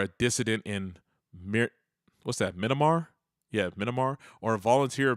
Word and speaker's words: Myanmar: Myanmar.